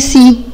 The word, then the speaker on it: see: بعد كده حبايبي عندنا بعض الافعال المهمة اللي جات في يونت 6 زي الفعل سي.